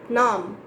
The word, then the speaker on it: numb: not be voiced so whenever b is at the last position of a word you don't have to pronounce it but still there would be a feeling that b is there okay okay great so